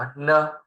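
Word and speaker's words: 呢: คำ ถัด มา ครับ เนอ เอ เนอ เสียง เบา ออก เสียง ว่า เนอะ นะ ครับ เนอะ แปล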